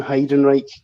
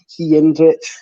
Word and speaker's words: Heidenreich: Like, since my brother and I were that young, we didn't know how to say his name, so we just thought he was called Heinrich.